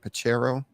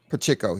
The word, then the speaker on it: Pacheco: And they've been changing the way that they use, how do you say it, Pacheco? Pacheco, yeah, Pacheco.